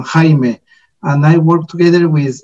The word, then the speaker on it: Jaime: It is pronounced as Jaime. Actually, I work in Japan, but I am Mexican. So it's a Spanish pronunciation, Jaime.